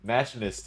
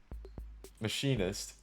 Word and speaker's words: machinist: You know, it's spelled like machinist. I'm not gonna say machinist or mechanist, because machinist is wrong, and mechanist is also wrong. There's no E in there. So it's machinist, right? Machinist.